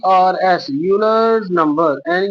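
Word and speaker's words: Euler's: इसको ई यू एल ई आर एस यूलर्स number N यू एम बी ई आर एस ठीक है य years ठीक है ई साइलेंट है यू से नाम प्रोनाउंस होएगा तो यूलर्स नंबर है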